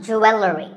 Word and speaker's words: jewelry: number 44 is jewelry it's spelled differently in american and british english but it's pronounced the same you will re jewelry it's not jewelry and it's not jewelry it's jewelry up next is the word